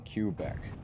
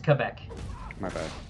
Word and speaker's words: Quebec: sauce MCCS Ezio Ryan I watch it from Kubek thank you thankful sauce it's actually pronounced a Quebec no no it's all good dude it's um